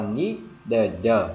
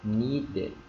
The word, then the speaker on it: needed: the the đúng không Chúng ta đọc là need the thì nghe rất là kỳ đúng không ạ Không không không không đọc như vậy bao giờ cả thì chúng ta áp dụng ngay cái luật luật insertion ở trong tiếng anh insertion thêm I and vào và người ta đọc là needed ok needed hiểu chưa anh chị needed đó